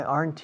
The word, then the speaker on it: aren't: Why aren't you? Fijaos en la pronunciación de aren't. Aren't. Es una sola sílaba. No decimos aren't. Decimos aren't. ¿Por qué no estás aquí?